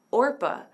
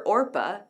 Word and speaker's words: Orpah: Her mom named her Orpah after the biblical character, but her family messed it up and started calling her Oprah. She has kept the pronunciation of her family, but the correct spelling on her birth certificate.